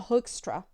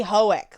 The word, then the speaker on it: Hoekstra: her last name hannah hoekstra um i hope i pronounced that correctly because we say hoeic like ren hoek from ren and stimpy i've been told that's wrong so i'm attempting it's